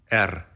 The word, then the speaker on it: Р: R.